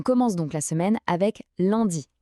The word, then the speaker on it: lundi: On commence donc la semaine avec lundi. La prononciation est assez simple. Lune dit. Le petit piège c'est le son 1 qui est un son nasal typiquement français.